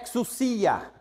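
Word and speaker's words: ἐξουσία: você tá lendo ex exos não tem acento a pronúncia é exusia vocês não tem gente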